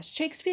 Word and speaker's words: Shakespeare: Shakespeare is a noun, so we put the stress on Shakespeare.